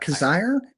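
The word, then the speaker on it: Kizzire: And um I always forget how to say his last name. Kazir Kazeri Patton Kaziri. I always I don't know. Kazire. Kazire, but it's K I Z I R E.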